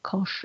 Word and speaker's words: cosh: in terms of exponentials you will heard them pronounced as shine kosh and tanch uh or refer to them as hyperbolic cyan cause and tan as you will also